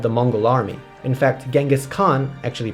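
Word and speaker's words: Genghis Khan: the form of the Mongol Army in fact genghiskhan actually pronounced chingas Khan founder and great ruler of the Mongol Empire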